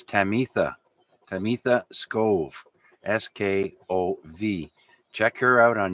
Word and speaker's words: Tamitha Skov: And that lady's name, the space weather lady, her name is Tamitha Skov. That's spelled Tamiha, kind of like Tabitha, but it's Tamitha Skov.